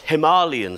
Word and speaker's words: Himalayan: you think about this Himalayan sea salt in fact even know it's pronounced Himalayan sea salt in some places I hear um it tells a